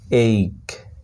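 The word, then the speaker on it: ache: যেমন এ সি এইচ ই, এইক, এইক, এখানে কিন্তু এক হে বা এচি এরকম কিন্তু উচ্চারণ হয়, এখানে শুধু সির উচ্চারণ হচ্ছে, এইচের উচ্চারণ এখানে সাইলেন্ট থাকছে, এইক এটার উচ্চারণ, এ সি এইচ ই, এইক।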